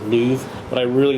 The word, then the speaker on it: Love: In the English-speaking world, we might say Love Giger because it's spelt that way, L-O-V-E, but the Swedish pronounce it Loove.